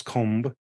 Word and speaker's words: comb: get um right but when you kind of push your lips together to form both sounds it just Blends together so it goes comb limb climb crumb you